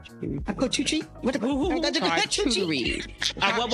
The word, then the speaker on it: charcuterie: What the Charcuterie. What? How do you pronounce that? Charcuterie? Some people say charcuterie, whatever you want to say.